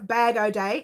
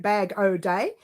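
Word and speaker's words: Bag-O-Day: have not heard of badou day it's spelt exactly the way you hear it bag oh day type it into youtube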